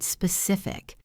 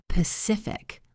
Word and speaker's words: specific: How about the word specific? Many learners say Pacific, like the ocean. You must hit the S and the P clearly. Specific.